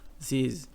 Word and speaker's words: disease: E essa última palavra aqui, o disease, disease, ele não tem, esse A aqui não é pronunciado, tá? É como se fosse um disease, tá?